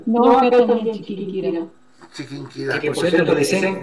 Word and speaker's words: Chiquinquirá: No, es Chiriquinquirá. No, es Chiquinquirá. Bueno, la es Chiquinquirá. No, acá también es Chiquinquirá.